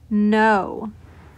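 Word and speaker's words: know: example is the word no I'm gonna underline the letter K I do not hear the letter K in the word no so move on to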